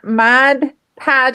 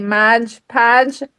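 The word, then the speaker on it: Mod Podge: Like I said, for my my podge, I say madge podge. I I don't It just comes out that way. I try not to say it that way.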